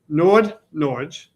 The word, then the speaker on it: Nordnorge: I can't pronounce it. It's n o r d n o r g Nordnorge.